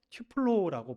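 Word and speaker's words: τυφλόω: 개인적으로는 직역을 하는 게 더 낫다라고 판단을 해서 직역을 하자면 본래 헬라어로 튜플로라고 발음을 하면서 신약 성경에 딱 3군데 쓰인 단어입니다.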